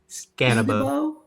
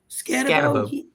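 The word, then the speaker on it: Skattebo: Scannabo. Scannabo.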